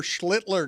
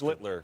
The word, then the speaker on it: Schlittler: Every single one of you pronounce his last name. You kept first. Schlittler. Oh, well, he's the master. Schlittler. Schlittler. Now your turn. Sound like Hitler.